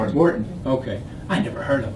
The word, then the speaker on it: Wharton: How do you pronounce it? Wharton. Wharton.